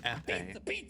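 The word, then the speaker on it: épée: It is pronounced epee.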